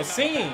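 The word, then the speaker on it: Cine: Lewis sign oh scene that's how you say his name locked to Bobo a gain of 29.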